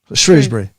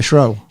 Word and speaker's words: Shrewsbury: Shrewsbury. Shrew, yeah. Did you say Shrew or Shrow? You wouldn't say that was Shrow, would you? Shrew.